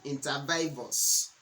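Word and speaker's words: inter vivos: to a trust interos trust interos although many people like to pronounce it intervivos so any trust that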